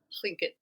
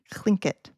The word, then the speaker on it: Tlingit: And I can't pronounce it, the way it's supposed to be pronounced, but I'm trying. And Tlingit. Tlingit.